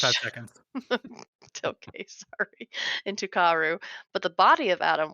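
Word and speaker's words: Kaworu: I gotta check my guide here. Kauru. Karu. Hey, there we go.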